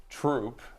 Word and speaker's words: Throop: Troop is not through because a lot of people in Lackawanna County say that TH sound tough so does everyone, as far as you know, in Renovo call it Renova?